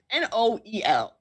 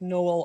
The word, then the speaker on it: Noel: it's no l whatever n o e l like noel or noel yeah you can pronounce it either way i think yeah because english